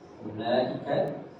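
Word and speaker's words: أولئك: di sini ee wunya ini ditulis harus ditulis ya tetapi cara bacanya gini ya ulaika ya cara bacanya seperti ini tapi secara penulisan harus seperti ini ini sama seperti ini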